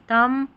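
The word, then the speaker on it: thumb: MB, और यहाँ पर इस MB को म पढ़ते हैं क्योंकि B जो आ रहा है ना ये साइलेंट है, तो बॉम, थम, कॉम, ऐसे पढ़ेंगे।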